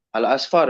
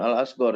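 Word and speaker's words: الأصفر: Oh hadis hadisi marwana al-asfar ya. Alasfar bukan alasgar itu harusnya al-asfar.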